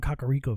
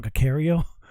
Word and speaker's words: Kakariko: liked uh you know going around kakariko village when i used to call cacario when i was uh a little kid uh because i didn't know how to pronounce it um but i really